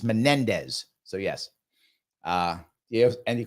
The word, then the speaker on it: Menendez: thank you my friend was Bob Menendez thank you not Mendes my mistake I apologize for getting his name wrong it was Menendez that's the guy with